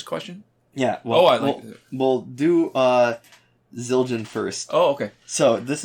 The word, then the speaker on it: Zildjian: yeah z i l z-i-l-d-j-i-a-n yeah um and they say haha two years ago damn zildjian would be how it's pronounced but definitely one of